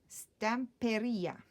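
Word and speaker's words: Stamperia: said because I wondered whether it was stamp area or stamp area its stamp area that's how you say it so it's big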